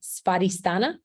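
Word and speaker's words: स्वाधिष्ठान: spell this right spotistana that W is is pronounced like a V sparistana is how you say that in Sanskrit SVA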